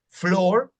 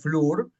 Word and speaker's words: floor: Se dice la doble O como floor, piso, no es flur, blood, no es blur, blood. El libro, que si, aunque